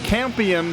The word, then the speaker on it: Campion: And since Campion rhymes with champion, these guys would love to go out with a section title.